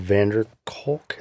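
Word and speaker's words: van der Kolk: i haven't but i i know that bestseller vanderkulk is that how you say his name is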